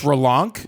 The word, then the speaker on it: Relonch: Spell that for me. R E L O N C H. That's relanc.